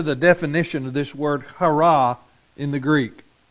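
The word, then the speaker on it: χαρά: What struck me as interesting about that word, it's C-H-A-R-A, but it is pronounced hurrah!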